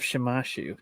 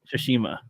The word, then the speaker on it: Tsushima: So there's a video game called Ghost of Shimashu. Just kidding. Shimisha. Right. What? Tsushima? Tsushima.